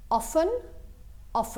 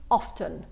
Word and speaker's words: often: ممكن نقول often بدون صوت التي، او ممكن نقول often. اوكي، الاثنين مقبولين، ولكن عاده اوكي صوت